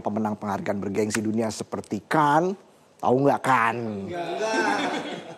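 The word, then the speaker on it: Cannes: penghargaan bergengsi dunia seperti Kan. Tahu enggak kan? Enggak. Enggak. Tulisannya chanes itu loh. Kan bacanya kan.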